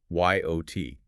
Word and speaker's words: yacht: So once you accept that the ch is completely silent, the pronunciation is simple. Yo t.